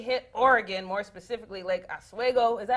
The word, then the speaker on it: Oswego: coronavirus has officially hit Oregon, more specifically Lake Oswego. Is that how you say it? Make sure y'all, right? Yeah, Oswego.